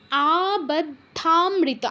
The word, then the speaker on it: আবদ্ধামৃত: তারপর আবদ্ধামৃত, আতে দীর্ঘ করতে হবে, আবদ্ধামৃত রশ্মিরত্ন মুকুটাং বন্দে মহেশ প্রিয়াম।